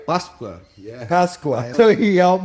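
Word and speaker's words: Páscoa: Eu falo Feliz Pastel, and pastel is something you eat. So he's like, is that right? Pasqua.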